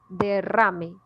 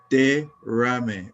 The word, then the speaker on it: derrame: Y aquí derrame. Derrame. Oh, so Es- you almost separated like 3 syllables. Sí, es 3 sílabas.